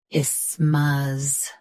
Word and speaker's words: isthmus: isthmus Say I smoothly, then smuz with a soft th like middle.